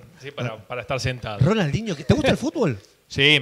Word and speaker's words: Ronaldinho: Ronaldinho.